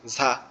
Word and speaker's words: ঝ: ওই দেখা যায় আমরা অনেক সময় বর্ষার সময় আচার খাই ধাম করে, তো আমাদের এই জিহ্বাটার নিচের দাঁতের উপরে ওরকম একটা আচার লাগবে, ঝা, ঝা, এরকম আচার দেওয়ার মতো এরকম ভাবে পড়বে আর কি।